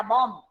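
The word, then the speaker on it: bomb: हम बोलते बॉम्ब फटा, बॉम्ब, ओनली बॉम्ब, जबकि पीछे बी भी है लेकिन हम बोलते बॉम्ब.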